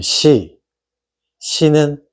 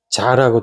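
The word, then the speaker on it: 秭: 억조경 그다음에 해 그다음에 시시는 자라고 읽어요 시 또는 자 그다음에 양 구 간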